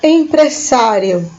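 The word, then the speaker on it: empresario: Então, a diferença é aqui o acento na letrinha A e um pouco da pronúncia, empresário, que se diz.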